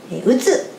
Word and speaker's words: 打つ: This action is called “drop” (the Japanese pronunciation is “Utsu”).